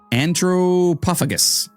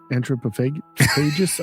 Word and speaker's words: Anthropophagus: Then there is one I'm going to attempt to pronounce. Anthropophagus. Anthropophagus, I believe. It's a G sound.